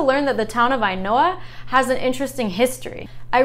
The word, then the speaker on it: Ainhoa: Now it's also tied with Ainhoa, another one when you see it written out in English, it might not be obvious how this is pronounced.